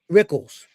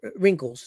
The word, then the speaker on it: Rickles: Rickles. Don Rickles. Not Rinkles.